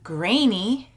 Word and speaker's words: Greaney: This is name day because, as you will see, I am interviewing John Greaney.